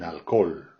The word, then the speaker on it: alcohol: Una cerveza sin alcohol. Alors le H est complètement muet et on le prononce à la française en mettant que alcool.